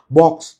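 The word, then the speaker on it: Vox: মুখফোসকে বলে ফেলছেন উনি স্প্যানিশ ফক্স বা স্প্যানিশ বক্স উচ্চারণটা ফক্স হওয়া উচিত।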